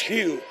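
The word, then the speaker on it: Hwang: no zero pardon me Steve Hugh HW NG pronounced Hugh we've heard a lot about him but that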